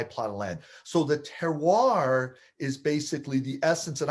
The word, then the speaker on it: terroir: Now, there's a French word, terroir, and that's about as good as I'm going to pronounce it. I hear French people pronounce it, there's a lot more almost syllables in that word.